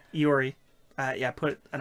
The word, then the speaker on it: Iori: Taichi, Inaba, or Lori? Lori? However you pronounce her name. Iori.